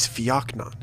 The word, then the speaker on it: fakan: serious tone he said the way you pronounce that word is fakan it means the hunter who keeps and when I heard him say fakan I knew it was